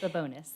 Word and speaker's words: Babonas: She's the corporate wellness director, Amanda Babonas. Am I pronouncing it correctly? Very close. Babonas. Babonas. Okay.